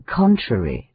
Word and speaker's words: contrary: Thus, in the word theatre, the stress of the voice should be on the letter E and first syllable the, and in contrary on the first syllable con. How shocking it is to hear people say contrary, theatre.